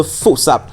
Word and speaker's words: Bafoussam: Bafoussam en langue locale se prononce Foussap, signifiant le trésor de la tranchée.